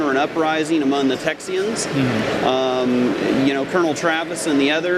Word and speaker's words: Texian: fighting for independence and Texian freedom I did not mispronounce that Texian and it was a